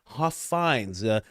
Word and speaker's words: Huffines: And then we just have more from Don Huffins or Huffines. I've been told his name is pronounced Huffines, the owner of what was known as Zorro Ranch.